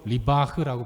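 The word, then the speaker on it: ריב: 다툰다라는 단어는 히브리어로 리바흐라고 발음을 합니다.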